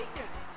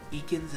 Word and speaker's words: Ekans: Oh, it's Eakin. Ah, there it is. Yeah, so yeah, for some reason the announcer mispronounces some of the Pokemon. Ekans is one of them.